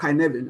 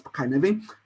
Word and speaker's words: Cynefin: framework, which we call kuh-NEV-in framework. Right? What is kuh-NEV-in framework? I mean, it's called kuh-NEV-in. I mean, it sounds like CY, whatever, but it's a Welsh word, but it's pronounced as kuh-NEV-in.